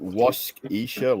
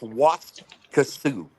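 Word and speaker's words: Waskesiu: Is it Is it Is it Wasisha Lake Prince Albert National Park? Yes. It's very very strange. It's pronounced Was Kasu.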